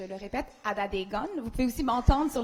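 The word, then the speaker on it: Atateken: Alors, en Kanien'kehá:ka, les T se prononcent en D et les K se prononcent en G. Donc, on prononcerait Adedegen. Je le répète, Adedegen.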